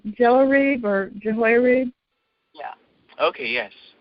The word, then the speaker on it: Jehoiarib: But I look in the International Standard Bible Encyclopedia, and it says Jehoiarib, and the pronunciation there is Jehoiarib.